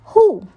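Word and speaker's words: 呼: Hu, pronounced like who, which is associated with the spleen.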